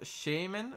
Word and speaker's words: Shaymin: you mean yeah you can give skins it's pronounced Shaymin what's Shaymin guys what a shame in what